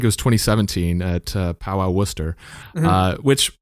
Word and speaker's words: Worcester: s t e r which you would think would be like Worchester but no it's it's it's it's